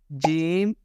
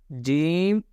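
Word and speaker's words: ج: And the answer is pronounced from middle part of your tongue, touching the middle part of your plate.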